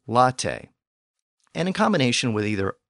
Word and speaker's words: latte: words from those languages we have words in Modern English where the letter e still has that original a sound so for example words like Cafe and Latte and in combination with